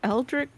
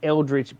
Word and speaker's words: Eldritch: so uh you said the spell was what eldrick what it's it's well it's the way it's spelled it's gonna throw you off but it's Eldritch blast yeah so look underneath